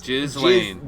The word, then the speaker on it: Ghislaine: Like Gaylish or whatever. No one knows her name. Yeah, it's spelled incredibly wrong. Ghislaine. Gay whatever Lane. her name is. Ghislaine. Ghislaine, that's right.